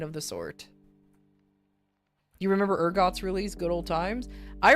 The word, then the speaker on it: Urgot: You do I I I hope you know that it is pronounced urgot and not.